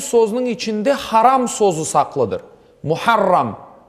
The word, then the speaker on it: Muharram: Muharram aslında onun tam telaffuz edilecek olur ise.